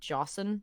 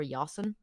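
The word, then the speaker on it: Josn: on a new passenger I call them jossen or yawson um it's j-o-s-n OS yes becomes jealous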